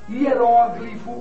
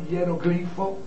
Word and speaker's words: hieróglifo: ou Oceania balcãs ou balcãs homília ou hilia hieróglifo ou hieroglifo Projétil ou projetil réptil ou reptil né dentre